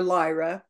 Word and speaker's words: Lyra: seeing the Cradle of lero being created or Lyra pronounce both ways the home base of